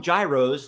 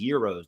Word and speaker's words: gyros: eat enough and I used to call them Gyros little did I know it's actually pronounced Euros we talked about this so shout out to